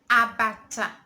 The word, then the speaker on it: abacha: When you want to say African salad in Igbo language, you say abacha. Abacha. Abacha. Abacha. Abacha. I call it like this to help you in pronouncing abacha.